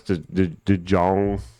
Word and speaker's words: DeJong: So I guess DeJong, that's how you say his name, that would be okay, but even their odds are kind of baity.